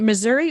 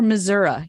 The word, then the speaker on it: Missouri: joining us from Missouri should we pronounce it Missouri or Missoura you're the native so